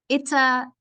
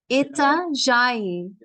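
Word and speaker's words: Itajaí: So how do you pronounce this? Itazai. Itazai is a port. Itajai.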